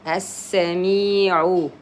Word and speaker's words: السميع: say it and then you directly start with a sin. أنت السميع. Sin شدة, so that means it's two sins. The first one is silent, the second one is open. sa. أنت السميع العليم. Here the meme kasra. Me, you prolong it 2 periods because there's a vowel.